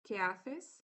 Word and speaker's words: qué haces: Or the correct Spanish pronunciation is ¿qué haces?